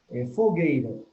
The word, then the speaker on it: fogueira: Tipo, fogueira. Fogueira. Veja que a palavra fogueira não foi acentuada, né? Mas ela tem a sílaba forte. Qual é a sílaba forte? Fogueira.